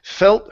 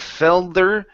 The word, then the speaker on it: felt: Okay, so felt her palms. Instead of felder, it's felt. Felt their palms.